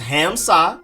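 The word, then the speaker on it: Hamsah: of things nissil but it's just ham sock emphasis on ham and then emphasis on nas hamsa nacirdine then you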